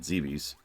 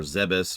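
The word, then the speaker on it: Zebes: pirates to orbiting this planet Zees or zebus or zeis or Zees I've actually heard all of those pronunciations in vocal works really game okay let's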